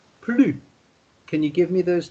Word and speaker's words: plus: there isn't any more, then you don't pronounce the S sound at the end. So instead of saying plus, you would say plus.